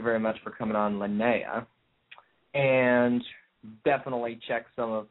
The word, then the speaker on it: Lanaia: n a i a and apparently it is pronounced lanaa lanaa I believe I believe so too thank you very much for coming on lanaa and definitely check some of that stuff out